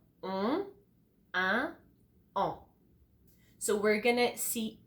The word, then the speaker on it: un: The first one we're gonna see together is un. For example, matin. Un is exactly the same sound as 1, 2, 3, 4.